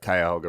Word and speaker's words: Cuyahoga: um in Cleveland uh you know that the Cuyahoga River uh you know set on fire that's